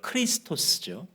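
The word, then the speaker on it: Χριστός: 뭘까요 없습니다 언어의 차이일뿐입니다 그래서 우리가 부르는 그리스도 원래 발음을 크리스토스죠 그리스도가 결국은이 종의 노래에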